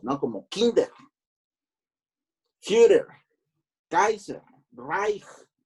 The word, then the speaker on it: Reich: Como Kinder, Führer, Kaiser, Reich. CH se pronuncia como J, Reich, por eso dije Reich.